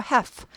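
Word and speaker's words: half: 그다음에 have는 반인데 l이 묵음이에요. 발음 나지 않아요. help 하지 않고 have have l 발음 안 납니다. have have 이렇게 돼요.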